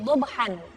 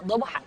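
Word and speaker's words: ضبحا: Wal 'adiyati dhabhan. Nah, dhabha di sini ada fathatain bertemu dengan alif. Ada diwaqafkan dengan karena dia itu di akhir ayat. Wal 'adiyati dhabhan. Nah, karena diwaqaf kita bacanya dhabha, bukan dhabhan.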